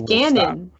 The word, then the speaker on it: Ganon: Ganondorf I say Ganondorf no it's Ganon its canyon like there's two ends oh my goodness Ganondorf